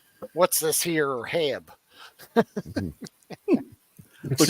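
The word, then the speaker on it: H-E-B: it's pronounced HEB. HEB. Like, Okay. If you see Heb, you're kicked out of the state for 20 years.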